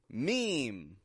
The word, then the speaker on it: meme: it in real time meme is it m no that's a common habit but we just get me and then we hold out an m a nasal M sound on the ending mem and GIF is it a